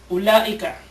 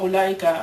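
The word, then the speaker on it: أولئك: Ulaika. Sa ulaika, meron dyan tuktab, wala tuntak. Yung wow. So, may wow dyan. Although nakikita natin yung wow, pero hindi mo babasahin ng u na mad.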